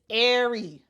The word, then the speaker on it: Aari: And I'm so happy they put the pronouncer here. It's Aari.